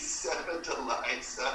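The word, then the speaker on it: Sevdaliza: And how do you pronounce that again? I think it's Seven Deliza.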